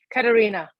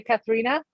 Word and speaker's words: Katharina: the most i mean americans always say catharina or catharina that like the right spell in german would be katarina yeah i just want